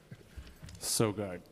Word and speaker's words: Sogard: Sigard, would you say your last name so I can say it properly? Sogard. Oh, Sogard.